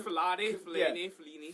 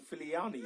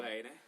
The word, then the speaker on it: Fellaini: What's with the Fellaini pronunciation? No one seems to get it right these What? days. Fellaini. Fellaini was from Van Gaal, and then Koeman called him Filiani.